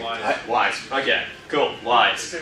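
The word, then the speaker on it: Wwise: I don't know, actually, how do you say that? Does anyone know? They say Wise.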